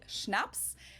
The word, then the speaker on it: Schnaps: alcohol culture in German we spell it like this and say schnaps and it means hard